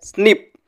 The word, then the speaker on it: SNP: single nucleated polymorphism or snp pronounced as snip is a single position